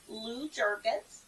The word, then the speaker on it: Lou Jurgens: Lou Jurgens. Lou Jurgens. Yes. Yes. And it's weird because it's spelled L-O-U.